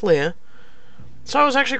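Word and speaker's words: Lia: I actually Googled it to look at the correct pronunciation, and it's French. It's actually pronounced Leia.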